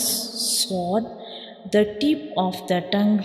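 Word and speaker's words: ص: You can see when we pronounce sword, the tip of the tongue rises towards the upper palate, touching the gums behind the upper two front teeth.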